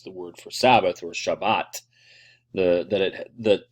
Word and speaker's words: Shabbat: Ashkenazi pronunciation to be Shabbos but the modern Hebrew follows the Sephardic pronunciation so anyway that's just